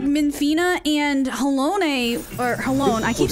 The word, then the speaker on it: Halone: Halone is the correct pronunciation.